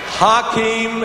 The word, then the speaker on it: Hakeem: welcome please for nba commissioner david stern commissioner hakeem as i've been told to pronounce it tonight i'm here representing millions and